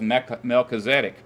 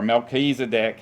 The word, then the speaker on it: Melchizedek: So Abraham's great grandpa was Melchizedek, or Melchizedek, however you want to pronounce it, which means a king of Salem.